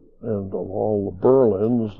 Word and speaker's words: Berlin: And of all the Berlins, this one is pronounced Berlin rather than Berlin.